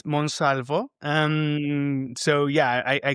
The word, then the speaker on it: Monsalvo: Yeah, it is Spanish. Uh it's Monsalvo.